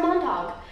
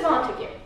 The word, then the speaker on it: Montague: about 3 minutes ago, I thought it was pronounced Montauk. And now I swear there is a reason why I pronounced it Montauk. I swear there's something called a Montauk. It's something that I watched or listened to or saw, but it's Montague.